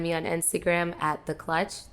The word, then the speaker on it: Klutch: on instagram at the clutch the clutch is not spelled like with a c it's spelled with a k so it's t-h-e-k-l-u-t-c-h uh